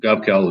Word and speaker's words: Gavekal: is gobcal and it gov rhymes with mob or Suave and that's important because govcal is one of the